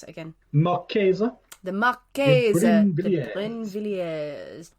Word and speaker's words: Marquise: The story of how do you pronounce it again? Marquise.